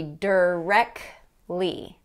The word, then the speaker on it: directly: word is directly directly that t in there has been dropped okay directly directly so in connected speech we're not going to say directly and get a full pronunciation of that t it's going to be derek lee the helicopter was directly